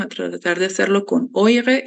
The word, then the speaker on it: eure: Das sind, ¿cómo se pronuncia? Oya. Se dice oya. Perdón. Das sind eure. Oire.